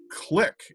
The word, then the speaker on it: Qlik: chief data officer at click and that's not spelled the way you might think it is it's spelled with a queue joe welcome thanks chris